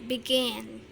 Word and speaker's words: begin: Kemudian begin itu begin, pengucapannya begin ya, penekanannya di suku kata kedua, maka harus didouble.